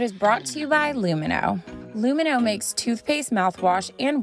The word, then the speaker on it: Lumineux: That's LUMINEUX. Remember, it's spelled with an X, so you can X out the harm.